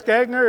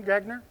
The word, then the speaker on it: Gagne: Gagner, is that correct pronunciation, Gagner? Gagne.